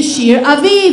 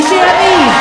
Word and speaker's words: Shir Aviv: and he's absolutely excited to be here Mr Shear aiv everybody Shear aiv thank you how's everyone feeling tonight excellent my